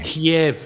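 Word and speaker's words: Kiev: yeah ke Kev yeah it's chicken Kev it's not chicken cave I don't give a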